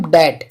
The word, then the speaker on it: debt: और याद रखना है, टी से पहले अगर बी होगा तो भी बी साइलेंट हो जाएगा।